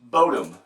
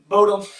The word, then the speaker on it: Bodom: Up next, and I hope I'm saying this right, we got Lake Bodom. Did I say it right? Bodom.